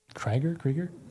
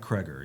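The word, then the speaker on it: Cregger: Did you say his name was Zach Krieger? Zach Kreger. Yeah. Kreger.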